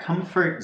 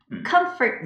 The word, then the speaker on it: comfort: Comfort zone. Comfort zone. Comfort. Comfort는요, M 발음을 거의 안 하는 것처럼 느껴져요. Comfort. It's a little bit there, but it's not very strong.